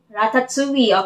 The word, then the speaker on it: Ratatouille: hey why did they call it that Ratatouille Ratatouille okay that's how you say it Ratatouille regretably